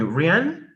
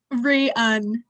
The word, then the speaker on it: Rian: Rian? Just Rian. It's not like Rihanna.